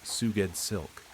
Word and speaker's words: Sgoueddslk: Sgoueddslk, pronounced Suged Silk.